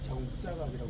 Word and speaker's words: 정자각: 지금은 이제 정자각이라고 안 하고 공안지청에서 통일을 해갖고 발음은 정자각이라고 정자에 통일을 했습니다. 정자각이 있고 그 정자각의 오른쪽에 이제 비각이 있습니다.